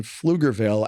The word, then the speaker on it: Pflugerville: You don't pronounce the P. Yeah, Pflugerville. Yeah, I call it Poogerville.